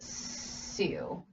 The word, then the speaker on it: Sioux: a you it's pronounced Sioux so this X is silenced and so is the I so though it's soup